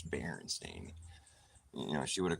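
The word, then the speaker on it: Berenstain: kind of playing off that but it's it's baren stain you know she would have corrected me because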